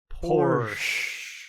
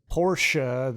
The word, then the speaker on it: Porsche: mr lyle has a porsche there's no e on the end of it for lyle no he's american he's he's upper crust but he's still american so he's yeah his uh his his porsche that daddy bought for